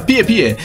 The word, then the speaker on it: Pispis: Comunque quel fiume è in Nicaragua e Pispis si pronuncia Pie Pie.